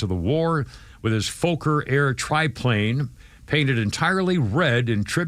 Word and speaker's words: Fokker: on both sides of the war with his Fokker Air triplane, painted entirely red in tribute to his old cavalry regiment. Is that how you pronounce it? Fokker?